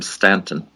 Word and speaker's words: Staunton: helen staunton i think she pronounced the name stanton like the town of virginia i think but she took